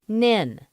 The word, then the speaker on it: NHIN: Network was known as the NHIN, pronounced NIN.